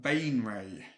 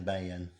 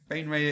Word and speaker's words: Baenre: So we've got Jarlaxle Bainray. Oh, is that how you pronounce it?